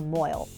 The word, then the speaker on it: mohel: There's a specialized position in the Jewish world called a mohel. That is the Yiddish pronunciation of it and what most people have heard of in TVs and movies.